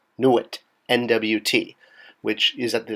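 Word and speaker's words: nwt: Now we have our glyph for town, which I don't know if I've mentioned is by itself pronounced Nuit, Nuit, N-W-T, which is at the determinative at the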